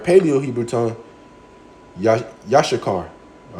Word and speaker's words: Issachar: Well, in the Hebrew, all right, Paleo Hebrew tongue, yashakar.